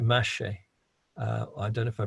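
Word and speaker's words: mâche: it in seed packets they call it mache i don't know if i pronounce that right mash or mache m-a-c-h-e and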